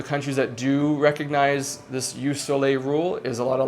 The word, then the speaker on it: jus soli: It's called jus soli. It's pronounced jus soli, which just means that wherever that child is